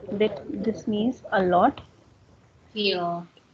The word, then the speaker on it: viel: Feel. So that is feel. That is not wheel, that is feel, because V has first sound.